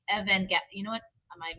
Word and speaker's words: Evangelion: Oh, I guess I'm lying because Evangelion is a J sound. Ah. Oh no, I think maybe it is Evangelion.